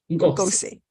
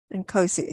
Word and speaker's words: Ngosi: So it's not a K, it's a G. Ngosi. Yes. Ngosi. Oh, okay. Not Ngosi. I've always pronounced it as a K. Nkosi, so it's Ngosi.